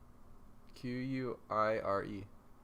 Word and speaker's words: quire: Quire.